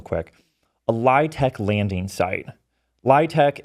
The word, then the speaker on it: LIHTC: LITC is the way that you pronounce the acronym LIHTC for low-income housing tax credit.